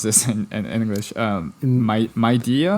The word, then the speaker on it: Midea: they're partnering with like home appliance giants such as how do you pronounce this in English? Midea? Media.